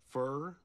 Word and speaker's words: fur: points under all this fur. I was gonna say fur. Pronuncie o A com som de E com acento agudo. Fat. O U aqui tem som de A com til.